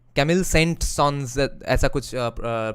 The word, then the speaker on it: Saint-Saëns: Camille Saint-Saëns, right? That's how it's pronounced. Camille Saint-Saëns, ऐसा कुछ spelling है उनका.